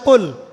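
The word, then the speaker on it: قل: ছোট কাফ পড়েন এবং কুল না পড়ে আপনি কুল পড়েন, বলেন যে কুল হু আল্লাহু আহাদ, তাহলে অর্থটা পরিবর্তন হবে। অর্থ দাঁড়াবে খাও আল্লাহ এক এবং অদ্বিতীয়। আমি কি বুঝাতে পারছি? শুধুমাত্র কফ এর উচ্চারণ সঠিকভাবে না করার কারণে আপনার অর্থ পরিবর্তন হয়ে গেছে, বলো এর জায়গায় খাও অর্থ চলে এসেছে।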